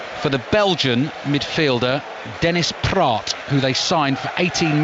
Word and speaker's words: Praet: And the way they wrote Dennis Praet, who I'm calling him, was actually Dennis Pratt.